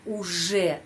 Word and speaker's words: уже: Я уже знаю это правило. Я уже, di sana ada huruf J, bukan Z, bukan UZ, harus я уже знаю это правило.